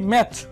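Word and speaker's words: match: দেখুন ম্যাচ, এখানে টিটা কিন্তু সাইলেন্ট, ম্যাচ, আপনার টি কিন্তু আসছে না, ম্যাচ কিন্তু কেউ বলে নাই, আমরা কিন্তু ভুলেও কখনো বলিনি ম্যাচ, এখানে বলছি ম্যাচ।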